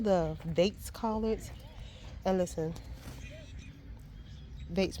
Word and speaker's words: Bates: And listen, Bates rhyme with hates.